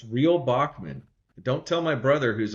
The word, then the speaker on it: Bockman: It's real Bachman.